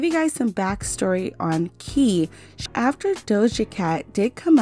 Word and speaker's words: Ki: She actually goes by Ki, K-I, and her Instagram actually says Eyeamki.